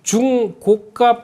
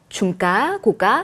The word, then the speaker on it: 중고가: 흐름을 보시는데 어 보니까이 중고가 패키지 중 고가라고 읽으면 안 됩니다 중가 고가 그서 중첨 고가네 중 고가라고 그러니까 뭐 당근 막게 생각하시는데 그거 아니고요 적당한 가격 높은 가격 예 예 높은 가격